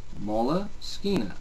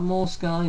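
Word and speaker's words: Moleskine: Sketchbook company but Molina and that is how it's pronounced let's get that out of the way Molina not mol Sky not molk Molina so all your little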